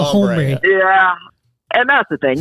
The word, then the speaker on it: hombre: H is silent, man. El Hombre.